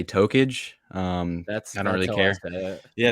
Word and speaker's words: Tokage: Like, it was supposed to be Black Tokage. It's more of a Naruto reference. My friends say Tokage.